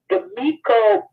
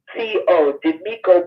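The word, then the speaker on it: Demico: Demiko Booth.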